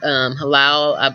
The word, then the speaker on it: halal: Halal, you know, it's spelled H-A-L-L.